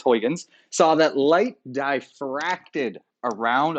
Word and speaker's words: Huygens: So Christian Huygens, I've never been quite sure how to say his name. Everyone says it differently. I'm pretty sure it's Huygens, saw that light diffracted around obstacles or through slits.